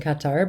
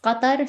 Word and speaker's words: Qatar: Is it Qatar or Qatar? In Arabic, it's Qatar, so none of the syllables exist in the English language. This is why it's always difficult to kind of standardize it as a Qatar or Qatar or whatever rolls more naturally in your tongue.